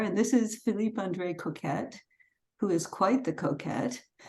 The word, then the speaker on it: Coquet: is unintentionally because the the French pronunciation is actually coquet but when I was trying to get work as an actor I had a casting director tell me I better use Coquette because it was people